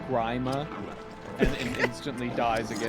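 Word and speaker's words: Gríma: back from the grave and just says it's pronounced grima and instantly dies again I can't tell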